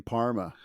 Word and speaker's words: parma: try making a chicken Parma oh yes and you even call the Palmer so that's the correct pronunciation that's right you can